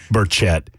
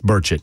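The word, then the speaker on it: Burchett: he mispronounced Tim's name so berett it's burett question to a republican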